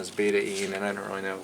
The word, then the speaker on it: betaine: this is called betaine spelled if i was pronouncing it they call it betaine betaine but it's actually the the correct pronunciation is beta-e and i don't really know that what the